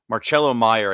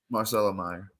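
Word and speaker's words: Marcelo Mayer: this next guy here marchelo Meyer I think that's how you say it um that's just wait is it Marcelo Marcelo Meer oh okay I thought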